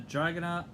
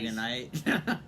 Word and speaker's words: Dragonet: Today we're going to talk about a great book called The Wings of Fire, The Dragonet Prophecies by... Drangonet Prophecies. Not Dragonite. I could never pronounce it right.